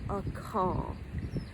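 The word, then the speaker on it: Akal: And it's spelled A-K-A-L, a call.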